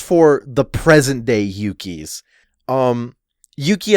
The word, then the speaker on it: Yuki: Yuki as a boy's name is very often having to do with the word for courage, and as such is like Yuki in its inflection. It's like the first syllable is like longer because it has an extra vowel, and for girls it's usually Yuki, as in like it's shorter, and so there can be a differentiate.